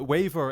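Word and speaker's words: Waver: a waiver and Ryder I've been calling him Weaver the entire time because every time that I read the wiki summary uh his name is is spelled out as Weaver but in the show they just call him waiver so I'm gonna call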